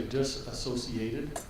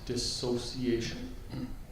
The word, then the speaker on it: dissociation: And some people say disassociated, which is actually not a correct word. It's a common mispronunciation, so it's dissociation.